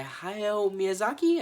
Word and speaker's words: Hayao Miyazaki: This was made by Hayao Miyazaki, I believe that's how you say his name, and it was released in 1984.